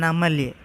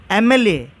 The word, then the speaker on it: MLA: And for MLA, M, it's not pronounced as consonant, but it is pronouncing as vowel. So that's why we keep an before MLA.